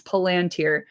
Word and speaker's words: Palantír: Like, h my brother has stock in Palunteer. So, like, I hear about it all the time. It's Palanteer. Palanteer. Palanteeri. Palanteer. Thank you.